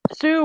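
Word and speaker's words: Hsu: If I remember right, his name is pronounced Sue, but it starts with an H.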